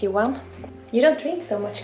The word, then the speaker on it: Johan: Johan. Johan. And when you say it fast, it's like Johan. The H is silent, I guess.